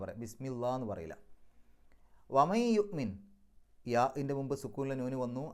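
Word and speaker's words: يؤمن: അതുകൊണ്ട് യുഅ്മിൻ എന്നല്ല, യുഅ്മിം, അവിടെ മീമിലേക്കാണ് കൊണ്ടുപോകേണ്ടത്.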